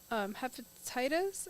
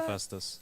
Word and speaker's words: Hephaestus: I'm probably going to pronounce this one wrong. Hepatitis, I think is how you pronounce that. Hephaestus.